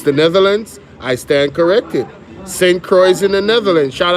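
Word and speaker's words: St. Croix: Oh, it's it's St. Croy.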